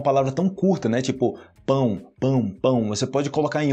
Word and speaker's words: pão: você fale roupão normal aí eu falo ou pão ou pão é esse pega só o finalzinho pão ou pão é isso